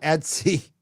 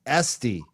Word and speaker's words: Esty: I didn't say it's not Etsy. It's Esty. Esty.